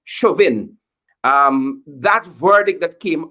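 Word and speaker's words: Chauvin: um and the deic I think the surname is pronounced shuin um that verdict that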